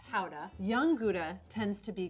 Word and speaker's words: Gouda: do the chicken aged gouda that has been aged between 12 and 18 months made from Rock Gouda origin of gouda which is actually pronounced hauda young gouda tends to